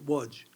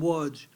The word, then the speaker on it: Łódź: In English, we pronounce it Lodz, L-O-D-Z, right? Łódź. Łódź was a big ghetto, and it was a very distinctive ghetto.